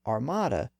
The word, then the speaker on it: armada: believe it or not the word Armada was once pronounced Arma it was borrowed